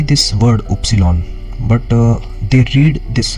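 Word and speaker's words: Ypsilon: X and then Y is Upsilon we say Upsilon in German and then Z is z so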